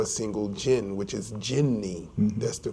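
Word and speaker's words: jinni: we mentioned before a single gin which is jinny that's the correct pronunciation a single gin and you have the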